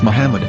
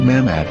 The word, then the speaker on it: מחמד: According to Ben Yehuda's Hebrew English Dictionary, it is correctly pronounced as Muhammad, not Mamad. So how we're going to